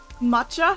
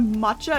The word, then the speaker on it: matcha: because like it's like matcha for like matcha for example like matcha T um how was written in Japanese it's not written like it has like the double uh consonant so um like when